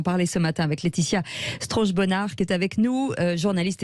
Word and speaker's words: Strauch-Bonart: Vous répétez son nom, Strauch-Bonnard. Strauch-Bonnard. Voilà, c'est parfait. bien, Voilà. c'est parfait la prononciation. Un côté à l'allemande.